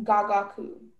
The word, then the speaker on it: gagaku: And there aren't any alternate pronunciations? Yeah, there's just gagaku.